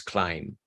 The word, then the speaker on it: climb: climb in the context, but the real pronunciation of the word is climb. Climb with no B, and the I sounding like a full vowel I, climb.